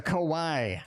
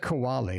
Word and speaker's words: Kawaii: terra the i'm sorry the kawaii tara they you know pronounce i've said kawali like a koala bear so you know you